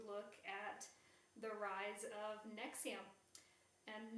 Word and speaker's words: NXIVM: Uh and this week we are going to look at the rise of Nexium and Nexium is spelled NX IVM but pronounced Nexium.